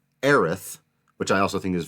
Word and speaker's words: Aerith: And so spelling phonetically what I do believe is the canonical English way to say her name, Aerith, which I also think is very beautiful and